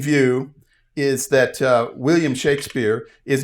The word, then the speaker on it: Shakespeare: always, but almost always, it was spelled as if there was a short a sound. Shaq and not Shake and so his name was actually pronounced Shakespeare not Shakespeare.